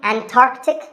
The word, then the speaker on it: Antarctic: Similarly, Antarctic and Antarctica.